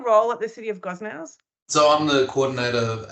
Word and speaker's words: Gosnells: Yeah, Gosnells, close. Anthony Procino, is that pronounced correctly, Anthony?